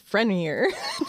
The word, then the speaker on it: Frenier: And it's actually really funny cuz in my segment, I had to say Frenier Frenier. And in my head, I was like, okay, say it how you would pronounce Lake Lanier, it's Frenier.